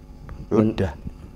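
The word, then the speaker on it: عُدَّة: tanpa terhitung tanpa persiapan uddah bukan iddah Tapi uddah bacanya gituin makudan maksudnya diambil di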